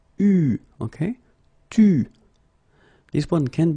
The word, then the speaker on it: eu: Okay, you write it like that, but you pronounce it u.